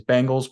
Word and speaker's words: Bengals: your name correctly herb caught me saying Bengals instead of Bengals that's wrong that's my bad the correct pronunciation is Bengals we we always pride